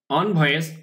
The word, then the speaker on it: envoys: আমরা এখানে খেয়াল করি, 20 মানে 20 জন, ফরেন বিদেশি, envoys উচ্চারণ কিন্তু ইন না অন, envoys যারা রাষ্ট্রদূত তাদেরকে ইংরেজিতে অনেক সময় envoys বলা হয়, অ্যাম্বাসেডর বলা হয়, envoy বলা হয়, ঠিক আছে।